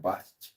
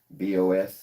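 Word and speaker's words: Bosch: You know, that's important to understand like because sometimes a word is pronounced differently than it's spelled, right? Say like the word bos actually is s more like bos.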